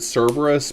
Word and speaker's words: Cerberus: I mean, usually in English people will pronounce it Cerberus, but the Greek name for Cerberus is with a hard K sound.